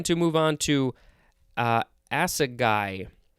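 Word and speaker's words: assegai: move on to uh acid guy acid guy i think that's how it's pronounced a-s-s-e-g-a-i or a-s-s-a-g-a-i this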